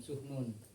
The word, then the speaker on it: Sahnun: harus di perhatikan teman-teman mungkin salah dalam mengucapkan Imam tahun ada yang mengatakan Imam sahnun teman-teman cara pengucapannya yang benar Imam sumun Karena suhu non itu